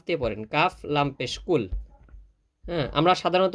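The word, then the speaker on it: قُلْ: এখানে যদি কাফ লাগায় পড়েন, এই কাফ দিয়ে পড়েন, কাফ লাম পেশ কুল। হ্যাঁ, আমরা সাধারণত উচ্চারণ করি ভাবে কুল আউযু, না, কুল না, কুল। একটু গলার ভিতর থেকে কুল।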